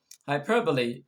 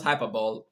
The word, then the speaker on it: hyperbole: another we have is hyperbole hyperbole not hyperball some people pronounce it it's hyperbole hyperbole is the use of